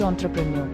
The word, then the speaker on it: entrepreneur: confusion what is the pronunciation of entrepreneur that's pronounced entrepreneur what is the spelling of entrepreneur entrepreneur is